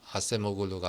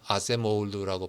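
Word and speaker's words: Acemoğlu: 여기서도 되게, 그러니까 저는 개인적으로는 요 아세모글루, 뭐 이제 터키 사람이니까 원래 이 사람 이름은 아세모글루가 아니라 아세모울루라고 발음을 해야 되지만, 어쨌든 그냥 우리나라에서 다 아세모글루라고 하는 것 같아요.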